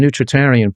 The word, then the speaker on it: nutritarian: Not not you pronounce that term nutritarian perfectly by the way.